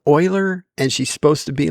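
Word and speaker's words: Euler: Even though there's that one part that I can't stand where she says it's um Uler's algorithm instead of Oiler and she's supposed to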